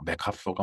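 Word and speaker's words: MacArthur: 근데 이게 그 메가더라는 게 원래 그 발음 기호대로 읽으면은 뭐 맥카서가 맞는 모양입니다, 맥카서가. 근데 이제 워낙 우리가 메가더, 메가더 했기 때문에 어 관습적인 그 어떤 호칭이라고 할까? 그걸 그대로 인정을 해서 우리는 맥카서보다는 메가더라고 우리가 부르죠.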